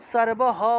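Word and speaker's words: সর্বঃ: মনে করেন যে সর্ব শব্দটা কোন একটা লাইনের একদম শেষে যদি থাকতো তাহলে আমরা সর্বহ উচ্চারণ করতাম। সর্বহ। আর এই সর্ব বিসর্গটা যদি লাইনের মাঝখানে থাকে তাহলে সারেবাহ সারেবাহ এভাবে উচ্চারণ করব। আর যদি লাইনের একদম শেষে থাকে তাহলে সারবহ হটাকে পূর্ণ উচ্চারণ করতে হবে।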